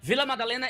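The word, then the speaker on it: Vila Madalena: How do I say it? Villa Madalena is right. Villa Madalena is perfect, but the state is SO.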